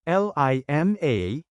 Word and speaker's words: lima: LIMA is 5 in Bicol. Change I to the American letter, E, and A to AH, then pronounce it as Lima.